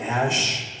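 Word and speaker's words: Æ: the colloquial English language AE you pronounce it Ash and then his last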